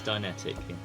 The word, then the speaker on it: Dineticq: going to have to remind me how to pronounce is it dtic it's dtic yes dtic right we did it deliberately to